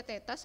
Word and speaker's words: theta: akhir yang perpindahan sudut Delta theta ya bacanya Teta = di awal kali